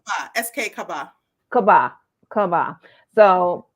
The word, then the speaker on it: Kabba: name for me so I'm saying it right Kaba SK Kaba Kaba Kaba so please be sure